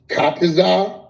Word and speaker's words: Tazaryach: I might say his name wrong, but he knows who I'm talking to. Tazaryach. Right. You said it right. Tazaryach.